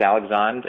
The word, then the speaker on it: Alexandre: Spelled like Alexander, but it's Alexandre.